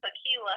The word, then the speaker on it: Takelia: l i a um my name is pronounce like the drink but it's not spelt the same uh so tequila and dan on